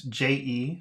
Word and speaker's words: je: So if it's a word and it's one syllable and it starts with a consonant and it ends with an E, then definitely it's pronounced.